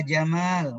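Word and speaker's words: جمال: Asep cakep Indah Bagus Jamal yang dibacanya pendek Jamal onta tuh kalo ada temen kita namanya Jamal yang bener panggilnya Ya jammal wahai yang ganteng ini jangan dibaca pendek ia Jamal Taeyeon tak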